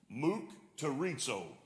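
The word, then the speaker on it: μυκτηρίζω: The word from which mocked is translated comes from the Greek word, and I actually looked up how to pronounce this, mukterizo.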